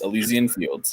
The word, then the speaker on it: Elysian Fields: We got the Elysian Fields. I've said it right? Yes, Elysian Fields.